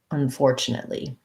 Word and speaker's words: unfortunately: stop t there and a li um not three e's so unfortunately um chin or chun this is either or an sound unstressed so this word i would suggest practicing with that the four syllable first for fortune fortunately unfortunately um yeah that's a tough one uh thanks for